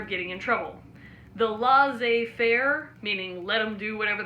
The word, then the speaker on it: laissez-faire: see how it's spelled because in French they leave out the last letters of both words the form of government